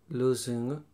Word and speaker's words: losing: don't understand which one losing which is what about it says ed it's not about losses in losses in it's not an S it's not an S losing confusing amusing losing confusing amusing how do